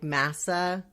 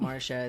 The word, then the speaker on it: Mahsa: h s a and it sounds like Masa so the H is very confusing it's not Marsha it's not Marsha not that there's anything wrong with those names but they're just not mine so when uh when I'm trying to explain to people how to say it I'll I'll say it's like NASA like the Space Center but with an m and you know your